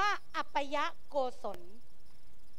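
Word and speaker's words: อปายโกศล: อัน ที่ 2 โกศล ที่ 2 อ่าน ว่า อัปยะโกศล อัปยะโกศล นะ คะ คือ ความ รอบ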